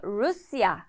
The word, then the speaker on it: Rusya: 하지만 'u' 가 들어가니까 루샤 (Rusya) 가 됩니다 . ' 야 ' 소리 를 추가 하면 루샤가 됩니다 . 그러니까 ' 루샤 ' 라고 발음 하시면 됩니다 .